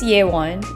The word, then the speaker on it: Yewan: where are you from my name is yewan it's like saying yeah I won or according to my portfolio it rhymes with rayquan and J-Kwon I say I'm from